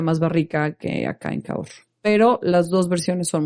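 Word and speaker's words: Cahors: caor es muy diferente se escribe caor pero es caor este son muy diferentes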